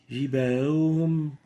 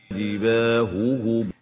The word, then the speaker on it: جباههم: An example, جباههم, جباههم. That's not clear. The two Ha are not clearly identified from each other. And the right way of pronouncing it is جباههم. جباههم, huhum, not جباههم, جباههم.